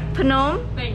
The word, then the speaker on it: Phnom Penh: Phnom Penh.